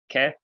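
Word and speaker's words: καί: Remember what the alpha iota makes together? Remember why the epsilon is called epsilon? It's ke. Doxa, patri, ke, yo.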